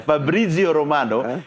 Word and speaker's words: Fabrizio Romano: Begitu cara bacanya, Fabrizio Romano.